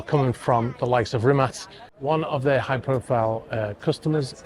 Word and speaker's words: Rimac: And it's what a lot of people pronounce it Rimac with a C, because it is spelt like that. But in Croatian, apparently it's pronounced Rimac.